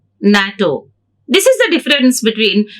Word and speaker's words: NATO: We pronounce as word NATO. NATO.